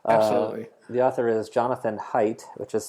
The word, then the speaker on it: Haidt: The author is Jonathan Haidt, which is spelled Haidt.